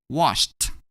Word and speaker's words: washed: When we add a D to wash, we're gonna pronounce it as washed.